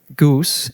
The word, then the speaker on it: GOOS: goose is a go environment variable and that is how it's pronounced.